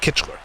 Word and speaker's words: Kickler: Is it Kickler or is it Kitchler? I'm pretty sure it's Kickler.